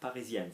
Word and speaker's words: parisienne: The N is hard, obviously, but the sound before the N goes higher. Parisien, parisienne, certain, certaine.